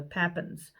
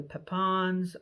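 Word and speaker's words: Pappan: of that family from the papins or the papans or they're just several pronunciations depending on where you are and and who you are p-a-p-p-a-n is the last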